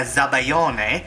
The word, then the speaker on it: sabayon: And I'm also going to show you how to make the Ooey-Gooey part, which is a Sabayone, or Sabayon, and it's spelled S-A-B-A-Y-O-N, or Z-A-B-A-G-L-I-O-N-E, the Italian way, which is Zabaglione, or Sabayone.